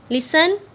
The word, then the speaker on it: listen: लिसन में students silent letter कौन सा है, टी।